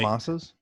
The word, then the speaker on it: Yamasa: Yamasas Yeah. Yeah, Yamasa. down in Costa Rica. It's actually Yamasa, but that's right.